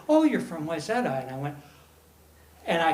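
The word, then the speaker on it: Wayzata: up in a a little suburb of minneapolis yzeta minnesota w-a-y-z-a-t-a no one knows how to pronounce it unless you're from minnesota and he was looking at my resume and he was like oh you're from wyzetta and i went and i fell in love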